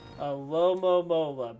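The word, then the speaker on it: Alomomola: I gotta look now to see how to pronounce it. A Lomomola, base 165 HP.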